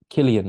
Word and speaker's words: Cillian: mean it's it's gonna happen I still apparently pronounce um Killian Murphy Cillian so uh so there you go